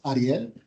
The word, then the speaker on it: Ariel: I'm Ariel. If you can roll your R's, Ariel.